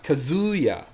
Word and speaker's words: Kazuya: Kazuya, Kazuya, Kazuya, Kazuya, you know?